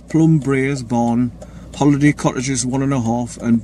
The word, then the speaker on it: Braes: I don't know how to say the second word, but it's Plum Braes, B-R-A-E-S. So I don't know how the Scottish pronounce it. Braes, Plum Braes.